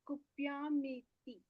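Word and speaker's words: कुप्यामीति: Yeah, so this word kupyamiti. Kupyaniti. Kupyamiti. Mm-hmm. Because it has a long E, the syllable ma has a long E, and it is ending at T, short T.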